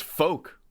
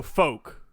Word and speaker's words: Fouke: i cannot pronounce it's folk i just google it it says f-o-u-k-e arkansas rhymes with poke okay so folk the folk monster okay that's it